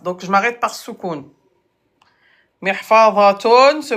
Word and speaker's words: محفظة: محفظة se prononce. Voilà. Oh, TikTok encore. Bon, allez, contestation. محفظة. محفظة. محفظة. الهاء. Ta se prononce comme ha.